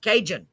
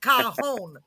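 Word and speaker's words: cajón: my husband's that smart it's pronounced cajon i gotta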